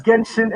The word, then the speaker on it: Genshin: All right, So you didn't add Ganesh Impact. that's Genshin Impact. Oh, you said it. Okay, my bad. Yeah. You had it pronounced differently.